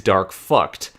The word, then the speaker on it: Dark Fact: Although he is not known as Dark Fact in Japan, the actual pronunciation of his name is Dark Fucked.